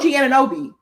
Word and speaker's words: Anunoby: OG Anunoby, my friend threw this out there.